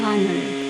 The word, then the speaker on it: honor: Also in the second example, it's written with H, but it's not pronounced. Yeah, we say it honor.